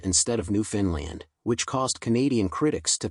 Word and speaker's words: Newfoundland: Another person claimed, "Newfoundland rhymes with understand."